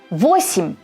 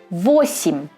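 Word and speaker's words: восемь: 8. То же самое. Е не под ударением. Почти как И. 8.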